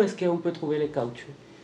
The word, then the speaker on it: caoutchouc: siècle, où on appelle ça la fièvre del caoutchouc. La fièvre du... Tu peux prononcer?